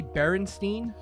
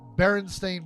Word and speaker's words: Berenstain: which would be s-t-a it wouldn't it be Berenstein that's the other thing they don't miss they don't pronounce it that way either it's not like